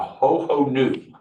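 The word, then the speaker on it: Hohonu: It's by Ho-Ho-Nu. It's abbreviated for something, but that's how you say it.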